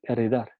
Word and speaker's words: enredar: Se pronuncia como una R múltiple, ¿no? No, enredar, no decimos enredar, decimos enredar, ¿no?